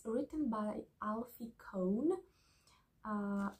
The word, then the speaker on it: Kohn: with him talking and he says it's not con it's not Co it's not it's con so yeah I did a